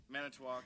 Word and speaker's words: Manitowoc: Manitowoc, yeah.